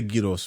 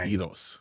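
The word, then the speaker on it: gyros: you don't is number one what you say Yos is number one it's better than donor why do people say some people say gidos but then how do you pronounce like a Yos exactly it's like it shouldn't be written with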